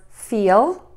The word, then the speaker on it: feel: In this case, the long E, which I call the smiling vowel, which is why we say cheese in English, and the short I vowel, I.